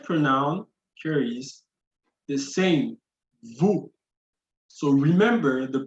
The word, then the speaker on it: vous: Second person plural, vous, and the stress pronoun here is the same, vous. So remember the pronunciation. So the S is always silent.